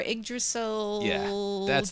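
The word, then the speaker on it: Yggdrasil: again the Amber yasel uh I may be pronouncing that wrong it's y g Amber Amber igdrasil tree yes oh okay that sounds very important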